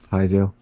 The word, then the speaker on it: piezo: Piezo.